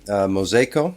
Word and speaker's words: Mozejko: And today we've got Mosco and please correct me if I'm pronouncing that wrong.